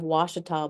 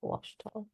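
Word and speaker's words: Ouachita: It's like in Arkansas, we have Washita, but it's OA. That's how you say it. Oh, really? Yeah, Washita.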